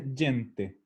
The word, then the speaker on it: gente: digo que en italiano gente se escribe igual aunque se pronuncia diente como digo hay mucha